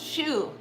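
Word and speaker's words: choux: that's what it's called it's called shoe you're right honey thank you c-h-o-u-x it's pronounced shoe yes it is I've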